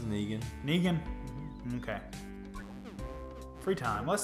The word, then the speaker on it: Negan: I can never pronounce his name. I don't know whether it's Negan or Negan. It's Negan.